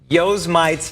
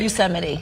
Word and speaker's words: Yosemite: cameraman kenny helping her out they call it yo's mites firefall yeah did i pronounce that right yosemite okay uh speaking of disappointed yeah because if